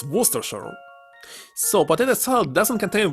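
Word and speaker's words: Worcestershire: sauce similar to Worchester forgot how to pronounce it correctly what oh my God werer it's werer so potato Sal doesn't contain werer inside of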